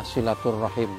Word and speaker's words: silaturahim: Monggo sama-sama kita pakai Tetapi kalau pakai bahasa Arab memang yang sesuai dengan ejaannya itu adalah silaturohim silaturohim Iya itu tadi silaturahim menyambung